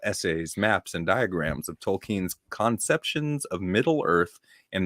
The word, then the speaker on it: Tolkien: long movies but j.r.r tolkien is how it's pronounced tolkien tolkien wright has a series called lord of the